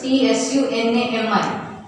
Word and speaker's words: tsunami: See, spelling of it is like this, T-S-U-N-A-M-I. But pronunciation T is silent, so it is pronounced as tsunami.